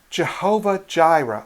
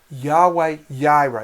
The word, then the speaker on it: Jehovah Jireh: Jehovah Jireh, or Yahweh Yireh. It depends on if you pronounce that J sound as a hard J or more of a Y.